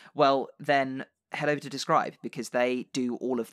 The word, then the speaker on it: DSCRYB: We have just partnered up with a lovely service called Describe. Describe is spelled DSCRYB because they're cool.